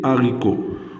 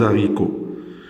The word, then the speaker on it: haricots: On dit les haricots. On ne dit pas les haricots.